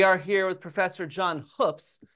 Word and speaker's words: Hoopes: My name is actually pronounced Hoops. All right. So here we go. We are here with Professor John Hoops, not Hoops, as he points out.